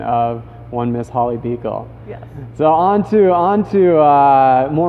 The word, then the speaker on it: Buechel: It's Buechel, not Buechel, not Buechel, not Bugle. It's Buechel. Just drop the U.